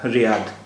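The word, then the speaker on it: رياض: उर्दू में इसका इस आखिरी अक्षर को हम जोए कहते हैं, इसलिए इसका उर्दू के हिसाब से उच्चारण रियाज हुआ। तो उर्दू में तो ये रियाज लिखा हुआ है, लेकिन अरबी में ये रियाद बोला जाएगा, और हिंदी और अंग्रेज़ी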